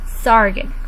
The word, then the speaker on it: Sargon: man's name was sargent let's say his name sargon repeat after me now sargent there are many